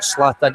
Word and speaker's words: Zlatan: It's either kind of Zlatan Ibrahimovic.